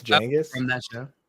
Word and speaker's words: Genghis: Is it pronounced Genghis? From that show? Like with a J? It's Genghis.